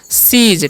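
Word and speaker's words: cease: ई है है ना तो यहां पर सी का च स हो जाएगा ठीक है और ई तो हो गया सी और ए स का च यहां पर ज तो हो गया सीज ठीक है सी से नहीं पढ़ना है सीज मतलब क्या होता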